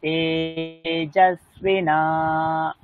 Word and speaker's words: तेजस्विना: তেজস্বী দীর্ঘ হবে না, আমার উচ্চারণটা দেখুন। তেজস্বিনা, এটুকুনি বলুন। তেজস্বিনা বধিতমস্তু মা, দধিতমস্তু মা তেজস্বিনাবধিতমস্তু মা, তেজস্বিনাবধিতমস্তু মা তেজস্বিনাবধিতমস্তু মা বিদ্বিষাবহৈः।